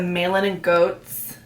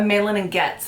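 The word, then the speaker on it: Malin+Goetz: Box 3 is a Malin and Goats, or a Malin and Getz is how you pronounce it, dark rum perfume.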